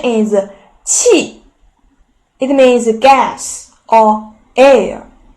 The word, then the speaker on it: 气: 气 the pronunciation is 气.